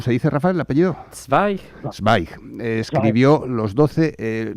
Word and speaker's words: Zweig: Sig.